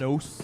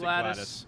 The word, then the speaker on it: GLaDOS: I don't know if you're fans of the game Portal, but I always pronounced her love name Portal. Gladys. Gladys. Is that Not correct? GLaDOS. No, I always pronounce it Gladys.